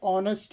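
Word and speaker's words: honest: hour ಅವರ ಅಲ್ಲ hour on ಹಾನೆಸ್ಟ್ ಇದರ ಉಚ್ಚಾರ ಹಾನೆಸ್ಟ್ ಅಲ್ಲ ಆನ್ ಹಾನೆಸ್ಟ್ ಮ್ಯಾನ್ ಆನ್ ಆನೆಸ್ಟ್ ಮ್ಯಾನ್ on honour on honour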